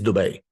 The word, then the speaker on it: Dubai: It is Dubai. Sorry, I love all of you. But how do I know it's Dubai? Because it's from there. Like, let's just be clear.